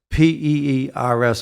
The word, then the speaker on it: peers: of advertising are from P-E-E-R-S. I'll spell it because of my Boston accent. Peers, because I may sound like the fruit.